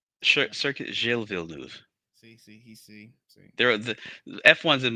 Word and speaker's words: Villeneuve: pronunciation is horrible. You can do it. Villanueva. Circuit Gilles Villeneuve.